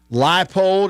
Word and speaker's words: Leipold: Leipold is how you pronounce it.